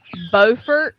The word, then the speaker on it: Beaufort: got one for you up here we have Beaufort which is spelled b-e-a-u-f-o-r-t South Carolina has Beaufort spelled b-e-a-u-f-o-r-t spelled the same turned out totally different yeah the difference is